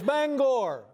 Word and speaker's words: Bangor: There's a certain sensitivity about how you pronounce the name of this city. Yeah, it's Bangor.